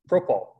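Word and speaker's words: propyl: But since it's an R group, it's not propane, it's propol, right?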